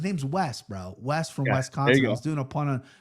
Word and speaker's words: Wisconsin: Bro, it's it's an I, not an E. Wiscon. Wisconsin.